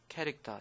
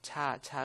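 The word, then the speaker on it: char: 자, 그다음에 캐릭터 문자 상수 줄여서 캐릭터 CH 이거를 뭐 차 그러는데 그러면 안 되고요. 캐릭터라고 읽어 주는게 좋겠습니다.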